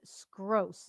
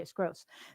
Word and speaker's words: Skroce: Simulation Nation hosts special guest Steve Skroce. Is that I pronounced that right? Yep, you did beautiful. Okay, Skroce.